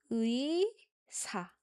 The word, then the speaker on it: 의: 의사. 의사. So, although oftentimes it's allowed to use this 에 sound instead of 의 sound, it's good to practice the 의 pronunciation.